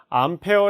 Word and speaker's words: 암페어: es 를 만들어 내는데 a 라고 대문자로 쓰고 무엇이라고 있느냐 암페어 라고 읽어요 그러면 이거는 암페어 는